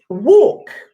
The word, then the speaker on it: walk: okay that's tricky thinks it's got this silent L and then even the a is an or is that what all okay walk so that's why that's